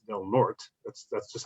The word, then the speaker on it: Del Norte: when the northern counties is not del norte it's del norte that's that's just how